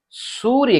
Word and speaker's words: सूर्य: के ऊपर जो है, य के ऊपर रेफ की मात्रा लगी है, तो यहां पर य के पहले आधा र उच्चारण होगा, इसलिए हम इसे क्या कहते हैं? सूर्य कहते हैं।